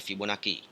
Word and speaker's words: Fibonacci: divideo berikutnya sebelumnya ya pola bilangan Fibonacci atau bacanya Fibonacci nah barisan bilangan Fibonacci memiliki pola mulai dari